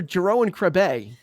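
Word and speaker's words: Jeroen Krabbé: Bueller then you've got Mr Jero and krabay and that's how you pronounce his name Jerome you're calling Jerry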